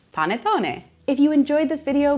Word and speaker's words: panettone: And last but not least, a Christmas classic, panettone. Panettone. Panettone. Not panettone, not panettone, panettone. Panettone.